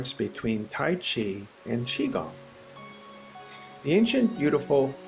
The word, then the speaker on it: chi: or use of inner spirit energy or chi pronounced chi c-h-e-e actually spelled in most most terms and